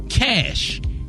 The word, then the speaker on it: cache: But when you take the T off, it's just pronounced cash.